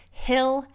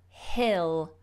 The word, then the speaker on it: hill: this is the difficulty with the short vowels Hill hell yeah and let me just show you